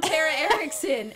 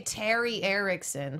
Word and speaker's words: Tara Erickson: obscure name that everyone I always feel like get I say Terry Ericson cuz I blend him together and that's not my name ter terrar exactly it's